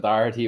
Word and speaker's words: Doherty: I'm very impressed with the pronunciation of Doherty.